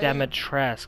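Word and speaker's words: Dimitrescu: chambers would she not ask the very same demotress that's how you say it i've been saying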